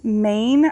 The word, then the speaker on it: Mayne: This is one of my self-watering containers from the brand Maine. I believe it's spelled M-A-Y-N-E, that I purchased on Amazon, and they are really great for putting on your porch next to a pillar.